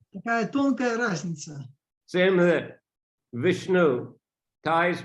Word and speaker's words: Vishnu: Vishnu is Thai pronunciation, but if they read it in a proper way, as Sanskrit should be read, it's Vishnu.